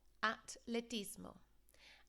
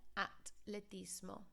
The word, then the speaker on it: atletismo: and pronunciation errors therefore, because in English, of course, we have the th sound with the H. There's no H in the Spanish, so be really careful of that.